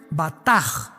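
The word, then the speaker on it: בטח: Y es la palabra hebrea batach, con B de burro y CH al final. Se pronuncia bataj, que significa descansar sobre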